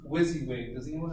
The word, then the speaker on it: WYSIWYG: things in time in half is I use whizzy whizzy pronounce what you see is what you get that's